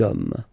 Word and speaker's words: hommes: You don't pronounce it, so you get des hommes, okay?